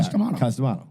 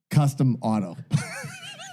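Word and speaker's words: Cus D'Amato: He goes, I always thought his name was, he's dead serious, Custom Auto.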